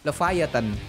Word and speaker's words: Leviathan: there Oh iya guys By the way cara bacanya leevatan Ya udah kalau gitu